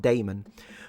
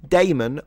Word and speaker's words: Damon: I always think I'm saying demon with a with an accent when I pronounce his name. Matt Damon.